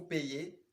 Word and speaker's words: paye: paie, nous payons, vous payez, il paie, elle paie. Mais attention, avec le verbe payer, on peut avoir l'autre conjugaison avec un Y, mais la prononciation un peu va changer.